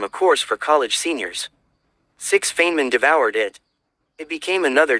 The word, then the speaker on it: Feynman: His name was Richard Feynman, pronounced Fine Man.